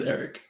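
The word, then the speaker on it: Errich: no no my name's Eric is it spelled weird or is it spelled like Eric it it it's spelled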